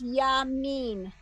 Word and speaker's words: Yamin: You see there's the little yud in the middle there. but there's no vowel underneath it or next to it, so it doesn't get pronounced. Okay, it's Yamin.